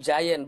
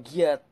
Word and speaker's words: Giant: Itu bacanya itu Giant bukan Giat.